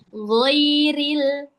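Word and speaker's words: غَيْرِ: Ghairil. Ril bukan ruil. Oke? Ri di sini bacanya tipis.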